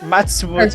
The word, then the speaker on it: Matsumoto: So yeah, I noticed it was Japanese when I tried pronouncing the second one. Is that Matsumoto? Did I get that Yes, right? Matsumoto.